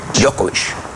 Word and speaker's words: Djokovic: Entonces, el señor Djokovic escribe, Djokovic, así que se pronuncia. Djokovic.